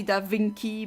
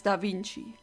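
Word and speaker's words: da Vinci: so it's DAV I I know some Americans say dinky but that's not correct it really is DaVinci and he predicted so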